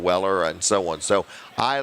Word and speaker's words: Weller: here or whatever or if they call me wheeler instead of Weller and so on so